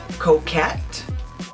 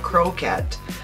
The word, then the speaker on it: Coquette: that I got is Coquette there is no R so it's not croquette so I hope I'm saying it right it's Coquette I will put the